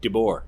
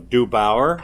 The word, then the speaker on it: DeBoer: DeBoer. Most people get it wrong. It says DeBoer on the thing, and they'll go DeBoer, and I'm like, where do you see a U at all?